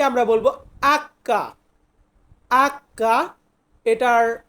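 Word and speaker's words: acca: বলি এরপর আছে এইচ এইচ কে আমরা বলবো আক্কা আক্কা এটার উচ্চারণ আমরা ইংরেজিতে করি এইচ ই আমরা এটাকে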